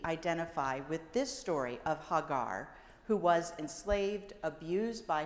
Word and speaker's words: Hagar: So, some interesting things about Hagar. First, her name. She is from Egypt, and yet her name, Hagar, which in Hebrew would be pronounced Hagar, means the foreigner or the foreign thing.